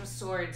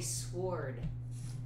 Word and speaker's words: sword: just some cookies and swords if you needed them I've been been hugly in in this game Dylan do you know why you don't pronounce the W in the word sword I don't know I